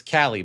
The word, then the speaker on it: Callie: And it's Callie, by the way. So that's how Oh, she it is pronounced Callie.